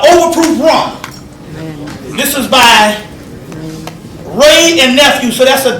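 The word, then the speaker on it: Wray: This is by Ray and Nephew. SO THAT'S A W R A Y. That would still be Ray. W R A Y. THAT MEANS THE W IS SILENT, RIGHT?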